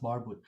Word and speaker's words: Barbud: bit in linguistic form so barb would basically middle persian which is the bad bat we were talking about that it was actually pronounced barbud and this is the